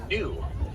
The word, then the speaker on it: gnu: that name is the gnu. It's spelled G-N-U. They get that name because of the vocalization or sound they're known for making, which is said to be a sort of new noise.